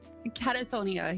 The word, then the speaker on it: Kattatonia: But Kattatonia, Brandy, Jess, and Evils. And Katta, have I saying that right, by the way? Because I've actually always said that. Kattatonia, yeah, I think you say it right.